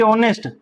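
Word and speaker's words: honest: ऑनेस्ट मैन तो यहां भी ऑनेस्ट एच साइलेंट है और सीधा ओ से उच्चारण हो रहा है।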